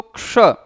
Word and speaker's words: क्ष: का क्रम, इसको हम क्ष बोलते हैं। क्यों? क्योंकि क के बाद मूर्धन्य श का उच्चारण करेंगे। ये छ नहीं है, छ नहीं है, ये क्ष है।